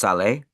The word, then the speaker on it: Salette: It's spelled like Salette. I think it's pronounced Salé in French. It's L-A La and then Salettee, Salette or Salé.